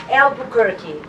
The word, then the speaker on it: Albuquerque: You will get the press release, and because my name is very, it's like the town, like the city in New Mexico.